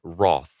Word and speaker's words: wrath: sudden wrath fun fact in British we pronounced that word Roth and I have to try so hard not to say Roth and it felt the same it's ridiculous I don't know why we say Roth Azam I flinch back